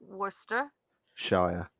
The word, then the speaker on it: Worcestershire: I, Worcestershire. Yeah, Say I Worcester. cannot. I Say cannot because Worcester. there's a sauce as well, and I mess it up so bad. No, just say Say Worcester Worcester Shire.